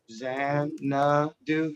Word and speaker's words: Xanadu: for everybody else x-a-n-u-d-u zen uh dude no x-a-n-a-d-u zan do yeah x-a-n-a-d-u and if you